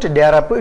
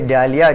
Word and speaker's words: Dahlia: It's not Darapu, it's only Dahlia. Dahlia, they mispronounce it in that way.